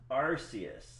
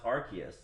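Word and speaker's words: Arceus: thinging playing Pokemon legend arus or I think it's pronounced archus because there's the word Arc yeah I'm having a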